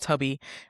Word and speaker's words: Tubby: I always want to say Tuby, it's pronounced Tubby.